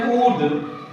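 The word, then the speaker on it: would: 11 number देखेंगे डब्ल्यू ओ यू एल डी वुड, इसमें भी क्या है, एल के बाद डी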